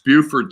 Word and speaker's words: Beaufort: I'm probably saying it wrong. Representing here, North Carolina. Okay, we said it right, because it's Beaufort, South Carolina, and Beaufort, North Carolina. You lucked into it, though. Most people don't know that.